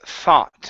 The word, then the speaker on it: thought: word here is pronounced thoughts instead of so so thought it's an ah sound thought plot okay give me a